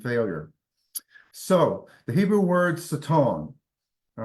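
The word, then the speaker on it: שטן: came among them and it's pronounced saton and it means adversary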